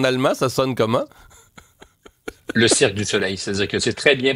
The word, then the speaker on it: Cirque du Soleil: Le Cirque du Soleil, c'est-à-dire que c'est très bien prononcé.